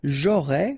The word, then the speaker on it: j'aurais: J'aurais, final S not pronounced, tu aurais, same thing here, il aurait, elle aurait, final T not pronounced, so phonetically exactly the same form here.